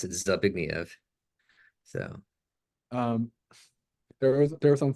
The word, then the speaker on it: Zbigniew: Um, but I think most English speakers still would pronounce it Zbigniew.